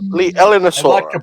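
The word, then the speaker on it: Leaellynasaura: the name of constantly, Lineaellosaura, or Lineaellosaura, because it's spelled Leallynasaura. It's Oh, Jesus. Yeah. Thank you. Liaellosaura.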